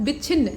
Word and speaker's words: विच्छिन्न: और विच्छिन्न लिखा है, ठीक है, यहाँ पर विच्छिन्न कैसे लिखा था, और यहाँ च का आधा उच्चारण उसके साथ विच्छिन्न ऐसे पढ़ा जाता है, तो वो जुड़ा हुआ है।